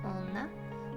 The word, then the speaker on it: 女: this word means women the first kanji is pronounced jo and the second she the first kanji means